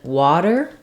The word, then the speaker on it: water: bottle I don't have any lip rounding to affect that vowel sound in water I'm not really saying W I'm not using the a vowel not water but it does tend towards more in that direction because of the roundness of the W so water you can